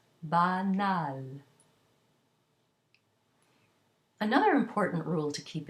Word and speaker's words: banal: Add a vowel to it, and it becomes an oral A with an N. For example, banal, ba, a, not nasal, banal.